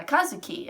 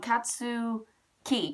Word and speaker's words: Katsuki: does his rival uh Kazuki or not Kazuki um katsu katsu oh my gosh I can't say his name um katsu Ki katsuki I'm like what what am I getting that name from but katsu Ki katsuki gotta remember that and his rival he